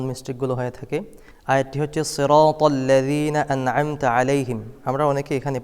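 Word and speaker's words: صِرَاطَ الَّذِينَ: হয়ে থাকে আয়াতটি হচ্ছে সিরাতল্লাজিনা আনতা আলাইহিম আমরা অনেকে এখানে পড়ি সিরাতল সিরাতাল্লাজিনা সিরা সদের জায়গায় সিন পড়ি এটা একটি মারাত্মক ভুল করা যাবে না সদ পড়তে হবে মোটা করে পড়তে হবে সিরাতল্লাজিনা তর জায়গায় অনেকেই তা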